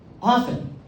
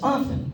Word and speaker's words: often: And the last thing is when people pronounce the letter T in the word often. Often. It's often. It's not often.